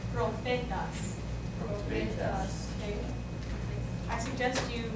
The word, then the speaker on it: profetas: If you see PH, how do we pronounce that? F. Which you just notate as if you were writing an F. So an example of that would be profetas.